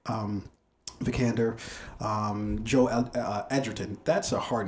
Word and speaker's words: Edgerton: vikander um joe uh edgerton that's a hard name to pronounce i'm not gonna lie edgerton because it's like you just want to say edge edgeton but it's edgerton uh that's how how